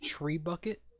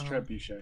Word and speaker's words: trebuchet: that's how I pronounce it so it's not pronounced tree bucket like trebuchet I thought it was always tree bucket no it's trebuchet I know it's like a catapult is cat